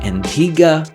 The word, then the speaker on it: Antigua: Antigua gave us that, and that's what makes it worth coming back to.